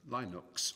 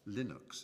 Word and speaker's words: Linux: um Lionus it was known as Linux or Linux as some people pronounce it and Linux is the